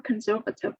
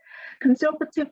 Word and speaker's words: conservative: they are considered more conservative than other areas of the country in the u.s conservative here let me explain it to you as well the stress is on the second syllable conservative conservative here it means not